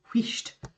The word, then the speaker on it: wheesht: And then S-H-T, wheesht.